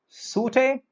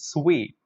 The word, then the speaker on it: suite: The word suite. Suit? No, no, no, no. It is sweet.